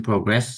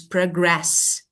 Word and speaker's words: progress: Okay, Progress. yeah, Second syllable. okay. Yes, because this is verb. Yeah, this is progress. Yes, but we have also noun that is progress. Progress. So this is noun, progress, but this is progress.